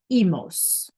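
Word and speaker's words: -imos: Then because it's an ir verb, it becomes imos, which in Spanish is pronounced emos.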